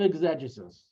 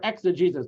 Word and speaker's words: exegesis: God gave Moshe the written Torah and the art of exegesis, or exegesis, depending how you want to pronounce it, which means we have a written Torah.